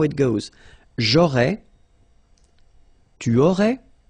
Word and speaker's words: aurais: J'aurais, so final S, not pronounced. J'aurais, then same thing here. Tu aurais, you don't pronounce the final S.